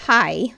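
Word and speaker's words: haj: In Swedish, H-A-J, pronounced hi, means hello, and H-E-J, pronounced hey, means shark.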